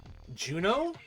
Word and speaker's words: Juneau: the Bering Strait to Juneau? I think that's pronounced Juneau. It's like that EAU that like some French words have, you know? Like, you know, there's people named Beau, but it's spelled like BAU or whatever.